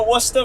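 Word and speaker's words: Worcester: wora I'm going to wora for SmackDown friends going to W that's how you pronounce it yeaha Worchester you're going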